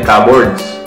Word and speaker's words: cupboards: c boards ' ba ngayon ang pronunciation nila doon ay cupboards Nasan yung cupboards hinahanap